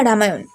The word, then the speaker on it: রাম: ভিন্নতা দেখাতে পাওয়া যায় তারা উচ্চারণ করেন ল এর মতো সেই কারণে মাপিলা রামায়ণের মুখ্য চরিত্রের নাম লামা এবং খল নায়কের নাম সুলতান লাভন এই কাহিনীতে শুধু রাম